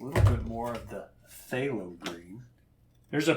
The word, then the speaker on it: phthalo: bit more of the phthalo green. There's a P in phthalo, which makes no sense to me. It's like psychic, right? There's a P in there for no reason.